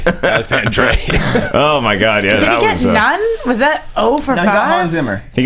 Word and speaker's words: Alexandre Desplat: It's Alexander, by the way, not Dre. Alexander.